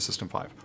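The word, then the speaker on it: System V: the letter is V, but it's always been pronounced as 5, as in the Roman numeral 5. Got it. Why we're moving from, forget the system 5, why we're moving from init to systemd.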